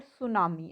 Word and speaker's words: tsunami: I have already told you that tsunami spell as Tsunami, but T is silent here, so the word is tsunami.